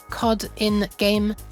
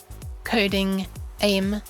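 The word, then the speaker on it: CodinGame: on the website called Coding Game, which can also be pronounced COD in Game, which can also be pronounced Coding Aim. I think some other ones. Oh, Coding a Me as well.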